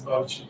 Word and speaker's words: Bauchi: So what's the pronunciation of that state? They say Bauchi or Bauchi? Bauchi, no, It's Bauchi.